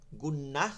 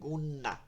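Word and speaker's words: غنة: নিয়ে উচ্চারণ করতে হয়, গুন্না উচ্চারিত হয়। গুন্না, গুন, গুন, একটু নাকের মধ্যে চাপ দিয়ে বলতে হয় গুন, এই যে নাকের মধ্যে নিয়া, গুন, গুন্না। গুন্নাও একটা গুন্না, গুন্নাও একটা কি গুন্না, এই নুনকে ধরে রাখা।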